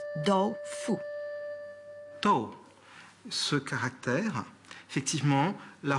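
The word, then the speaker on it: 豆腐: 2 caractères qui se prononcent do-fu.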